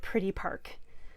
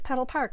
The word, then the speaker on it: Petal Park: using petal Park and I think I've been saying it wrong I think I may have been calling it pretty Park so um it is petal Park it's the pedal Park